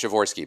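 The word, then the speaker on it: Przeworski: polish born political scientist whose name is adam chavorski and i'll spell his last name because it's not how it sounds uh it's p r z e w o o-r-s-k-i shavor it pronounced shivorsky because that's how languages roll um and chavorsky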